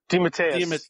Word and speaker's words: DeMatteis: DeMatteis.